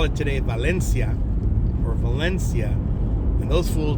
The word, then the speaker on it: Valencia: And those fools back in them days would call it Valencia. Kind of like, I don't know, Italianize it. But it's Valencia. That's where Magic Mountain is, Valencia. And it's kind of, that's the most commonly accepted pronunciation.